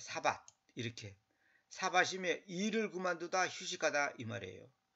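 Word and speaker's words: שבת: 요거 밭도 이거 밭 이렇게 하지 말고 이렇게 티읕을 붙이면 더 발음이 정확합니다. 사밧 이렇게.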